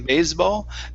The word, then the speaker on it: baseball: good now here okay this s sounded a little more like a z than and then normal so instead of saying baseball Bas remember that's an an unvoiced S sound baseball baseball okay good